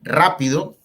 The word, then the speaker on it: rápido: Por ejemplo, rápido, rápido, lleva la fuerza ahí enseguida.